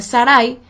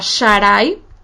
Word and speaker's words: Sarai: Porque si en vez de pronunciar la letra Sin de Sara o de Sarai, pronunciáramos la letra Shin, o sea, Sharai o Sharai, estaríamos diciendo el nombre de un israelita que aparece en Esdras, en el capítulo 10,